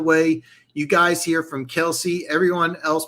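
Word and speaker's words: Kelce: By the way, you guys hear from Kelsey. Everyone else pronounces their name wrong.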